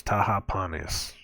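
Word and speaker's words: Tahpanhes: where is it to it is four syllables Taha panis thou will fill hands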